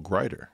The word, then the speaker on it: Greider: I said, you know, these articles of Carol Greider. And they said, how do you spell glider, like the plane? I said, Greider, like the Nobel laureate.